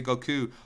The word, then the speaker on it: Goku: They say Goku all the time. But it just bothered me because his name is Japanese, and I always pronounce Japanese the way it's supposed to be pronounced.